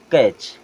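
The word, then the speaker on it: catch: means होता है पकड़ना यहां पे टी साइलेंट और यह हो जाएगा कैच एस आई जी एन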